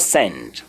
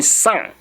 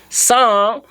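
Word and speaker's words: cent: but S-A-N as in sound. Sound is S-A-N, you pronounce. Of course, in your pronunciation, you must not go san, no, you go sound. Your mouth opens and you don't close it again.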